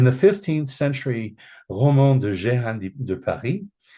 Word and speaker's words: Jehan: In the 15th century Roman de Jehan de Paris, Jehan is, or it's actually pronounced Jean in French, is the assumed name